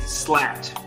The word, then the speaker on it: Slat: Shout outs to Ryan Harden, David Slat, rhymes with cat, Coop, Dave Izzle, AJ McCown.